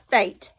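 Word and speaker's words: Fayette: Ever since Fate can remember, people have pronounced his first name Fate. F-A-T-E. His name is F-A-Y-E-T-T-E.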